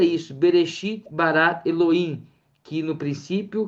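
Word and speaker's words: בְּרֵאשִׁית: Pronuncia isso. Berexit barat Eloim, que no princípio criou Deus, né?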